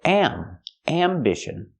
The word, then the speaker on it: ambition: not pronounced ambition ambition we use the short a sound am ambition not ambition but ambition